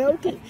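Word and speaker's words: Patoka: Padoke. I said it wrong, but it's no, Padoke. It's Padoke.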